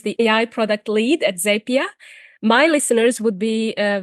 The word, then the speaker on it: Zapier: clarify how to pronounce zapia properly yes well thanks for having me on I'll start by saying it's zap Leed to often say zappier makes you happier and for the more